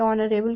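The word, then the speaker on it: honourable: एच को pronounce हम नहीं कर रहे हैं। है ना? तो इसीलिए यहां पे ऑनरेबल के लिए यहां पे क्या आएगा?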